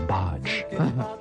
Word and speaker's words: Badge: bodge by the way it's not pronounced badge I did an interview with Clapton just the other week it was bodge just my two cents but isn't this bad sound like bodge all right we'll see